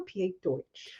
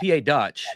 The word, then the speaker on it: PA Dutch: been saying PA Dutch is it PA Dutch or PA Deutch oh it's PA Dutch no because we're we are different we are we that's